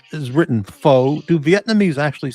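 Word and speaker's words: phở: You have to use a a broken rising accent so it sounds like you're asking a question even though you're not.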